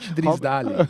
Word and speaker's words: Drysdale: Robert Drisdale. That's how they say it.